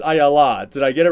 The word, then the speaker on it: Ayala: And I said, "I think it's Ayala." Did I get it right? Or it's actually the Hebrew version, and you've got it exactly right, Ayala. The English American version is Ayala.